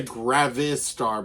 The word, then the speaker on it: Gravastar: I want to say Gravastar, but it's Gravastar.